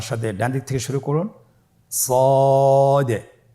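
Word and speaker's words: صاد: সদ হারাফটি পুরো হরফ মোটা হরফ উচ্চারণ ক্ষেত্রে মোটা করে পড়তে হবে এবং উচ্চারণ করার সময় তিন আলিফ টেনে পড়তে হবে।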